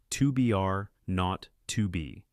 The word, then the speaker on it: 2BR02B: were supposed to call the zero in the telephone number he pronounced not the number was 2 are not to be it was the telephone